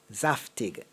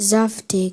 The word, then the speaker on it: zaftig: sentence one year the zaftig look was in among models the next year the Wai was all the rage zaftig is it zaftig or zaftig zaftig the second pronunciation zaftig zaftig or saftig I said zaftig at the